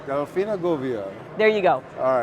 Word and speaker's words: Delfina Govia: freaking Driscoll have got to learn how to pronounce my name Delina goia Delina goia there you go all right so first this